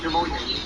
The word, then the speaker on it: pneumonia: And I don't think, you don't pronounce the P, but pneumonia.